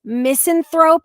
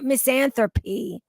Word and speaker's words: Misanthrope: they pronounce misanthrope as myth misanthropy now listen I'm being